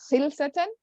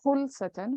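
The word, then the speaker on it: خُلْصَة: or in the PDF it says khilsatan, but I think the correct pronunciation is khulsatan with khu, because I couldn't find khilsatan. I don't know. But khulsatan is there.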